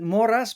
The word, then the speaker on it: Moras: We'll also pronounce it Moras because, after all, with time spent in the United States, you just got to make it work.